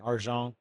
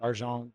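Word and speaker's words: argent: enable a uh an arjon wallet type experience right that smart contract wallet so you can protect it with other needs that's a French Canadian pronunciation there yeah that's it okay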